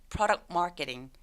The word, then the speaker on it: product marketing: 중간에 있는 T 소리 또 삭제. 그래서 product marketing.